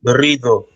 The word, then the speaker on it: Garrido: Garrido. Am I saying it right? Garrido. All right. Yeah, Garrido.